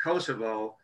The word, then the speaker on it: Kosovo: to mention to kelly it's pronounced kosovo and sean mcgann uh